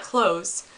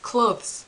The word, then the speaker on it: clothes: My point here is that it's not clothes. These are not clothes. The door can close, but this is not clothes. It's clothes. It sounds weird.